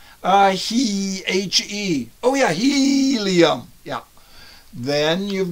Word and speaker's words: He: Now get it right. It's He, helium. Pronounce it. He.